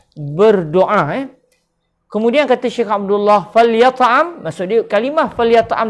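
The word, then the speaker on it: فليطعم: Kalimah falyat'am ni iaitu cara bacanya, huruf lam dibariskan mati, kemudian huruf ya dan huruf ain dibariskan dengan baris atas. Kita baca falyat'am.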